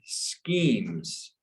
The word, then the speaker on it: schemes: This one word is schemes. So this CH is pronounced with kind of like a K or a silent H.